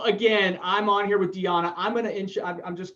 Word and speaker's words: Dijana: on here and with dejianna the j is silent isn't it it's diana all right i was close so again i'm on here with diana i'm gonna inch i'm